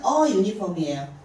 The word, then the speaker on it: uniform: U는 J로 시작하는 걸 발음기호로 따지면 J하고 이렇게 두 개가 같이 있어야 U 발음이 나기 때문에 첫 글자가 J 발음이에요. 그래서 얘는 유니폼이에요.